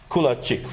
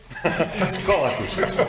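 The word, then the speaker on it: Kolakušić: And another colleague from Croatia, Kulacic, right? Do I pronounce it correct? Right now, not. Kolakusic.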